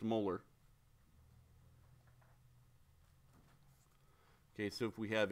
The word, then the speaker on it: molar: to write to sate okay and this is pronounced molar okay so if we have a two molar